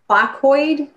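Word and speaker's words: placoid: they're talking about because i can't even probably pronounce this word have you studied how the focoid shape of scales decreases their friction moving through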